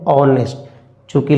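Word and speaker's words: honest: तो एन लगा दें बट इसको हम लोग पढ़ते हैं ऑनेस्टकि लेटर है कसोनेंट का बट पढ़ते हैं हम लोग ऑनेस्ट उच्चारण है अ इसलिए इसलिए याद रखिएगा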